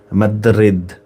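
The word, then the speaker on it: Madrid: কোথায় all reunited in মাদ্রিদ মাদ্রিদ এভাবে উচ্চারণ করে স্প্যানিশে ঠিক আছে এম এ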